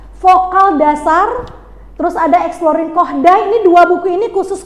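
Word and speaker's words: Kodály: Yang terakhir, dalam materi ini mahasiswa mampu menerapkan metode bukan kodali bacanya. Kohdai. Apa bacanya? Koh. Kohdai. Nah, ya. Karena ini orang Hungaria ya dalam bernyanyi dengan membaca notasi yang tadi doremi fasolido.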